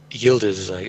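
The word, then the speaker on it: Yıldız: And there are people from all over the world that go to this thing, and often, similar to Yildiz, it's Yildiz, I guess is how you pronounce that.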